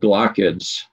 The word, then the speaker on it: glochid: But the ones that are worse, in my estimation, are these tiny little things called glochids. And so that's how this word is pronounced, glochid.